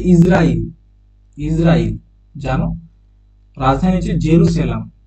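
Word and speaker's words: Jerusalem: ইসরাইল জানো রাজধানী হচ্ছে জেরুসালেম বা জেরুজালেম একচুয়ালি এটার উচ্চারণটা হচ্ছে জেরুসলাম জেরুসালেম মুদ্রা হচ্ছে সেকেল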